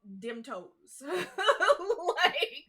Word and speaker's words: Demtoes: Yeah, they're straight up a Cajun restaurant run by a Rougarou, and it's called Dim Toes. That is what the restaurant is called. It's called Dim Toes.